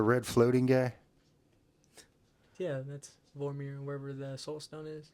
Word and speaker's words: Vormir: It's not Boromir. No, that's How's it pronounced? Can't remember how that's pronounced. Not that place. Vormir. Vormir, yeah.